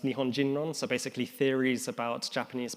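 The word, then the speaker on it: 日本人論: This translates, or it's pronounced Nihon Jinron, so basically theories about Japanese people or theories about Japaneseness, which was quite a popular strand of academia in the 70s.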